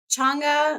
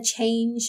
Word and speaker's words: Chang'e: It kind of focuses on the daughter of the moon goddess, like the title says, but Chang'e, I think is how you pronounce her name.